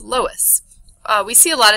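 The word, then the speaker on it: loess: Um and it can form silt dunes and it's pronounced lowest.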